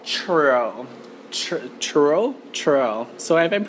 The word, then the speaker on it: chutoro: This is a fatty tuna, and it's called chutoro. Chutoro. So I've been pronouncing this wrong for the sushi connoisseurs.